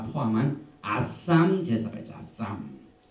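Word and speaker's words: אשם: 아쌈, 알렙, 신, 맴, 소핏, 아쌈.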